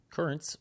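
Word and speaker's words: CurraNZ: Currents, which is spelled Cur Ra N Z, is a pre-workout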